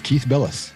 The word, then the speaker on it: Bilous: Did I pronounce that right, Keith? You did, Larry. Yes, Keith Bilous.